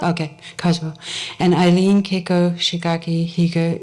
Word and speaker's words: Kazuo: Okay, Kazuo.